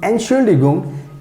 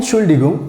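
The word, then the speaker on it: Entschuldigung: use to to describe excuse me excuse me and surely gum and chuligum so that's how you have to pronounce i hope you understand everything and now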